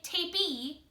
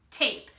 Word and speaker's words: tape: out it's a tape you'll notice I didn't say tape e the e is silent it's a tape so that is my